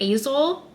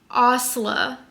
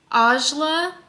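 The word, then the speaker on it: Asle: I think I was pronouncing it Azul. It's pronounced Osla. Ajla. Closer to that.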